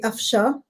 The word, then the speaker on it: Afshan: So the N is actually silent in my name. So it's actually Afsha is how you pronounce it.